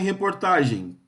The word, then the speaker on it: reportagem: Reportagem, qual que é a sílaba tônica em reportagem?